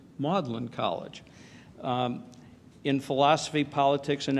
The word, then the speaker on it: Magdalen: Oxford at what, until recently, I have always pronounced Magdalen College, but Murray explained to me that it's actually pronounced Magdalen College.